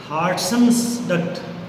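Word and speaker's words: Wharton's duct: है, उसको बोलते हैं हार्टन्स डक्ट, हार्टन्स डक्ट, हार्टन्स डक्ट बोलते हैं उसको। W इसमें साइलेंट है, WHARTON अपोस्ट्रोफी S, नी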